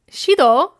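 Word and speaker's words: Xydo: for night walker and also fun fun fact Shido um he is a solo artist uh his name is spelled like zido but it's pronounced Shilo x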